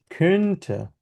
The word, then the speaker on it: könnte: একটা হচ্ছে ইস কন্টে, আরেকটা হচ্ছে ইস könnte। ইস কন্টে, ইস könnte, ঠোঁটটা একটু গোল থাকবে যখন আমরা উমলাউটটা উচ্চারণ ko- করব।